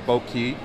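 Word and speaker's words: Boat Quay: It's spelled, but it's Boat Key.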